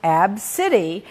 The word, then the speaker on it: Abcde: name a name and the kids name was spelled ABCDE pronounced AB City and they're calling her